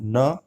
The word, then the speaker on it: know: KNOW, नो के अंदर जो है, इस अल्फाज के अंदर के साइलेंट है, इसलिए इसकी एक्चुअल शुरुआत कौन से साउंड से हो रही है, कॉन्सोनेंट साउंड न से